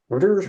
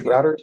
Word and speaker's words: Reuters: BBC or Ro routers or roters routers is how you pronounce it Reuters Reuters thank you